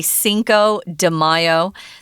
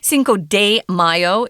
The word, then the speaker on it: Cinco de Mayo: Mayo if you're not a Spanish speaker you're going to say Cinco de Mayo that's how it said in English but uh Cinco de Mayo is uh more likely or closer to the Spanish pronunciation and it really just